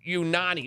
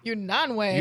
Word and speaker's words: Unanue: Hi, I'm Bob Unanwe, and I'm president of Unanwe. Unanwe. Unanwe. He said Unanwe.